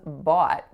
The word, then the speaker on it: bought: rhymes with caught and that word is bought in this case the AH sound is being represented by oh ugh very very different than just the letter O on its own so as an English